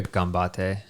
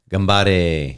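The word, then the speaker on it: ganbare: was just you'd hear it you'd hear a gambate yeah but they said it gambare yeah like I was like I was like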